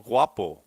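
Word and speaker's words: guapo: papers I think that was made up it's pronounced R um okay I'll figure it out but it's not about oh wapo it's wapo wapo WAP means you're handsome in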